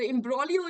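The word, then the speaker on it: imbroglio: extremely um silent okay we do not pronounce the G so imbrolio is a noun just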